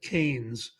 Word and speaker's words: Keynes: Uh well, Keynesian is named after a British economist named John Mayor Kanes. It's pronounced like candy cane, c- an-s, but it's spelled keyn.